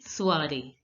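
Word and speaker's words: soirée: The same way in your text this word was given soiree. So the last E is not pronounced and OI is pronounced as ua.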